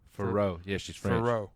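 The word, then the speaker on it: Fiorot: Manon Farrow. Farrow.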